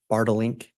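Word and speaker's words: Bartelink: It's Bartlink? You pronounced it perfectly.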